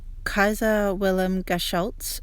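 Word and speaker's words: Kaiser-Wilhelm-Geschütz: The Paris gun, or the Kaiser Wilhelm Geschütz, as I think it's pronounced in German, it's the name that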